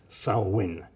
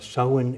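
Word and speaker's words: Samhain: uh what the Patriots will do all right sawin and U but sawin is November 1st and we were told that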